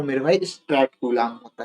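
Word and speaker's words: Coulomb: तो सीजीएस पद्धति में आवेश का जो मात्रक होता है वो मेरे भाई स्ट्रेट कलाम होता है।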